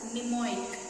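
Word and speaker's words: mnemonic: other side in the first m is silent it is pronounced as pneumonic so i will tell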